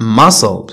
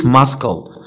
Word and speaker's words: muscle: silent c، c is not pronounced in the ending في هاد syllable اللي هو كيف ما كتشوفوا قدامكم S C L E S C L E بحال muscle ما نقولوش muscle اوكي يعني العضله.